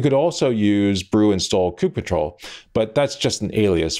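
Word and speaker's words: kubectl: kubernetes by the way i pronounce it as coop control though i've heard other folks say kube cuddle or even cube ctl anyway docker ships with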